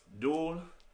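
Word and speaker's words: 둘: Dul, pronounced like the word dual.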